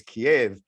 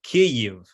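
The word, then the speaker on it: Kyiv: preparation for the show and it's the proper pronunciation of what we're constantly hearing is kiev but but it's actually key you or if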